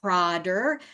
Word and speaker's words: Prader: is PR willly syndrome well um the pronunciation pronunciation is prder um that it's named after three actually Four Swiss um physici s who saw this as a syndrome so prer Wily syndrome is a rare uh noninherited gentically